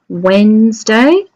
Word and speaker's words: Wednesday: it has the D is connected to the Wednesday.